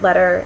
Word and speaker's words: letter: We don't actually say them with a T. If you listen to them carefully, writer, it may sound like we're pronouncing them with a D, but it's actually not a full D sound either. Your tongue, when you say those words, is just sort of glancing off the roof of your mouth. It's not really making a full stop consonant.